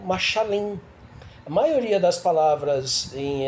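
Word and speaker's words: משלים: Parábola no hebraico, ela se escreve, se fala machal, no singular, e no plural machalim.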